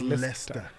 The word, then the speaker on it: Leicester: It's called Leicester.